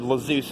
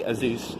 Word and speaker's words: Azuz: I said Lazeus at one point. It's actually Azuz, apparently.